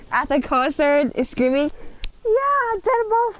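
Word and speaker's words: deadmau5: I pronounced it Dead Mouse 5, and she's like, no, girl, it's Dead Mouse.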